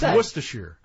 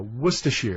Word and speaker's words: Worcestershire: sauce that's a nice moist assure or Setzer no Worcestershire Worcestershire sauce Worcestershire sauce Worcestershire this